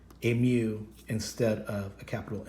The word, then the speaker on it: mu: It's actually a Greek letter, and that Greek letter is pronounced mu.